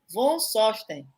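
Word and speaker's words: von Sohsten: Von Sosten. Zonstosten. Isso? Von, é alemão? Von Uhum. Von é normal. E o Sosten você finge que não tem esse H aí no meio dele.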